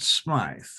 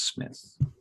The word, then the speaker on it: Smith: people pronounce it Smythe, but it's not. It's Smith.